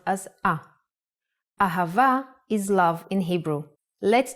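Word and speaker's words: אהבה: so as I mentioned hey can sound like both ha and ah the word ahava uses it in both ways when hay appears in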